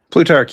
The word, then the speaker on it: Plutarch: Am I pronouncing that right? Plutarch, yes, that's me.